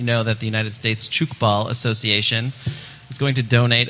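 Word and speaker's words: tchoukball: Yeah, so chook ball, and I want to talk I'm sorry, about wait, it what's that now?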